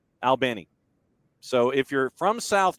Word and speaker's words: Albany: It's like you're talking to two dudes, one named Al, the other named Benny, Al Benny.